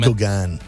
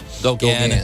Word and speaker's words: Gauguin: I can't pronounce his last name. Gauguin. Gauguin.